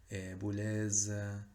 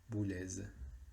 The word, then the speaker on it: Boulez: La Z final en los apellidos sí se pronuncia, Boulez. Se pronuncia como una Z, que nosotros ya vimos en el trabajo práctico pasado, que es ese sonido de consonante sonora.